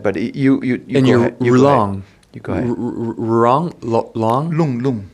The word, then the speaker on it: Rlung: Rlung. You go ahead. Rlung? Lung. In Tibetan. R-L-U-N-G. So R-L-U-N-G. R is just, I just throw in there because... the R is silent. Lung.